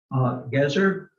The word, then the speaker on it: Gezer: Gezer, as it looks, and Megiddo.